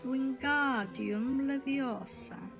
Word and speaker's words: Wingardium Leviosa: buffalo on his chest you are saying it wrong it's wingardium leviosa make the card nice and long you do it then